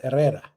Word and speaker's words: Herrera: You remember, the H is silent. So it's Jose Herrera?